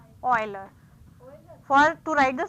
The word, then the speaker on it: Euler: help you Euler from it's not Euler the correct pronunciation is Euler for to write the